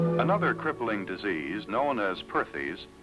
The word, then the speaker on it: Perthes: her doctors another crippling disease known as Perthes pronounced partes was the demoralizing ailment that brought this little